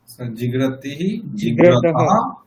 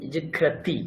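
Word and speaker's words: জিঘ্রতি: জিগাতহ একবচন দেখুন জিগ্রাতি এখানে কি বিসর্গ আছে বিসর্গ নেই তো কাজেই এখানে হকারের কোন উচ্চারণ আসবে না তো জাস্ট জিগ্র জিগতা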